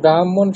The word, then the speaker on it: ব্রাহ্মণ: স্যার এই যে ব্রাহ্মণ শব্দটি আছে এখানে উচ্চারণের সময় কি হটাই আগে উচ্চারণ হবে? ব্রাহ্মণা ব্রাহ্ম মটা আগে উচ্চারণ হবে, তারপরে হকারটা হবে।